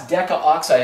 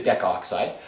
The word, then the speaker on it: decaoxide: can put down now i know it looks funny because you got the two vowels there but you got to make be able to say it properly uh some people say deck oxide but it's you can write down decaoxide so tetraphosphorus deca oxide